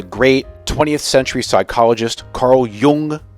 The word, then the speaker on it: Jung: But you know what the great 20th century psychologist Carl Jung said? I think that's how it's pronounced.